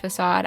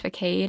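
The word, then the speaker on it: façade: that when I say that I know it's pronounced facade I just thought for my entire life that it was pronounced for Cade and that facade was a different word and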